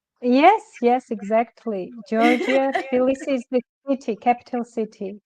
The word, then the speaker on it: Tbilisi: and talk to you all the way from Tbilisi, Georgia. Am I pronouncing that correctly? Yes, exactly. Georgia, Tbilisi is the city, capital city.